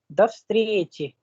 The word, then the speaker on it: до встречи: वैसे पढ़ने में है दो встречи, है ना? लेकिन जब इसको हम प्रोनाउंस करते हैं तो बोलते हैं до встречи, до встречи. There is no pause between, there is no break in between.